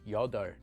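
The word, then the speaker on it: 여덟: A very common exception to this rule is the word for 8, which is pronounced the opposite way as yodar.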